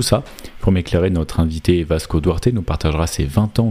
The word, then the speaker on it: Vasco Duarte: Je suis et aujourd'hui je suis accompagné d'un invité en la personne de Vasco Duarte. C'est comme ça qu'on prononce ?